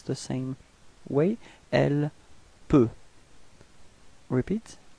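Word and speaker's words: elle peut: L P.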